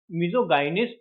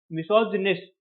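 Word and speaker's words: misogynist: ठीक है, ये हो गया हमारा मिसेंथ्रोप, मिसोजिनिस्ट। अच्छा, ये बोलता क्या है, बोलते क्या है? मिसोगाइनिस्ट नहीं, मिसोजिनिस्ट। इसको जी वाई को जो है जे की तरह बोलिए आप, मिसोजिनिस्ट।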